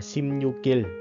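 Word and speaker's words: 십육일: Nếu như không có chữ in là đọc là Simnyuk. Nhưng mà tại vì nó có mi ưng phía sau nè, mình sẽ đọc nối qua là Simnyukil.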